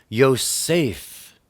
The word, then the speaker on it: Yosef: And she named him Yosef, meaning Yahweh has added. Joseph, properly pronounced Yosef, and said, "May Yahweh add to me another son."